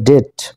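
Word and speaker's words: debt: এখানে উজ্জ্ব থাকবে অর্থাৎ বি এর উচ্চারণ হবে না তাহলে ডেট আর হচ্ছে ডেইট এরপর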